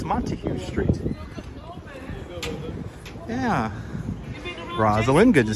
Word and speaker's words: Montague: But alas, of course pronounced correctly, photos from around New York. It's Montague Street.